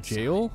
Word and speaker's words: gaol: that was the name how you pronounced that jail that was gaol the creatures trapped inside